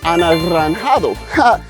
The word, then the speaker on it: anaranjado: Yeah, it's orange, Anaranjado. Pretty hard to say, right? Gotta roll your R's. So, Anaranjado.